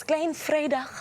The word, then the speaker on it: Klein Vrydag: It's Klein Vrydag, as Jamie would say.